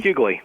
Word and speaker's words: Huguely: His last name, is it pronounced Huguely? Is that right, Matthew? Huguely. Huguely.